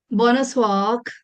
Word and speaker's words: bonsoir: Bonsoir.